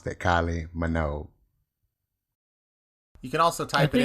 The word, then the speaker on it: Kylie Minogue: into youtube and that that is how they pronounce that kylie minogue you can also type it in the google